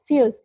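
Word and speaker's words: fuss: Rule number three is about the pronounce double consonant as a single letter. For example, यहाँ पर एक word है fuse, FUZZ या double Z, fuse।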